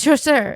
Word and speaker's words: Chasseur: I do love, one of my favorite jokes though is when he when Gus mispronounces the last name and he's like, it's Chasseur, it's French Huguenot or whatever.